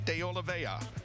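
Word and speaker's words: JP de Oliveira: number six tumas and JP deola and that is the way you pronounce it with I know there's an r in there but we asked and we got the information from the horse's mouth in the seventh row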